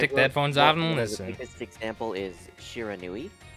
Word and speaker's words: Shiranui: them this example is shiranui I wrote it out syllable by syllable and he kept continuing to call it Shira Ryu yep I think I